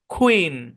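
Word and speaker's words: queen: এর সাউন্ড হচ্ছে খুয়ে তো পুরোটা মিলে হয় কুইন হ্যাঁ কুইন এরকম না কুইন কুয়ে কুয়ে খুয়ে ইন কুইন পুরোটা মিলে উচ্চারণ কি কুইন কুইন মানে কি কুইন মানে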